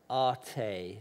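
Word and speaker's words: Ἄτη: And there's this figure, Arte, I pronounce it in Greek.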